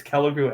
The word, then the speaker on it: Killigrew: Killigrew? Is that how we're supposed to pronounce it, or is that wrong? It's both. It's Killigrew and it's Killigrew. Okay. It started out not Kellogg. Kille, and they changed it. It was Kille, and then they swapped the E and